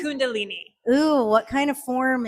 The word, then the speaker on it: Kundalini: So, what is how do you pronounce it? Kundalini. Kundalini.